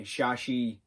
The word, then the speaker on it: Shashi: which is led by shashi which rhymes with tadashi so that's why i